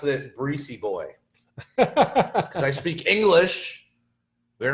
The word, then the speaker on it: Brisebois: Brisebois. It's a silent B because there's 2 B's. It's Brisebois. I'm going to pronounce it Breezy Boy because I speak English.